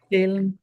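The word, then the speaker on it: Kaellan: Kayen. Yes. You want to spell it for me?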